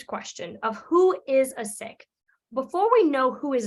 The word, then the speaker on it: Sikh: in the Western World we identify that word those four letters as seek or psych but really it's pronounced sick now obviously in many